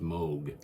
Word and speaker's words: Moog: It's pronounced Moog like M O A A G but you know it's spelled Moog.